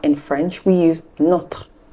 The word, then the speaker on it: nos: in French we use not not for both the feminine and the masculine singular and for the plural we use please know the S is silent okay it's not n